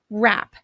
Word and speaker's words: wrap: phoneme or sound for example wrap the WR represents a while the W is silent or knew the letters